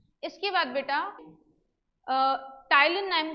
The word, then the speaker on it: ptyalin: ठीक है, किसके थ्रू, टाइलिन एंजाइम के नाम से, PTYALIN। P साइलेंट होता है इसमें, तो टाइलिन नाम का एंजाइम है जिससे क्या होता है, ये ब्रेक डाउन कराता है कार्बोहाइड्रेट का।